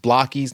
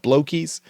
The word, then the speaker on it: Blokees: But just they had mentioned that they had given us that image of where that Blokees is pronounced Blokees, not Blokees.